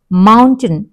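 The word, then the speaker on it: mountain: okay table ట వినిపిస్తుంది మౌంటెన్ మ అనే అన్నది ఎక్కువ వినిపిస్తుంది ఓకే సో ఈ వీడియో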